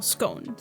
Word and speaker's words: scone: are we would call scones yeah yeah that always confuses me if you want to pronounce it Stones gone it's it rhymes with gone no she's gone biscuits